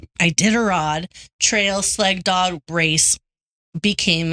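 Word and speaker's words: Iditarod: And most famously, the ID I How do you pronounce it? Ididarod. Ididarod.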